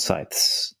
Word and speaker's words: scythe: Nate, I also heard you use hand scythes. Is that how you pronounce it?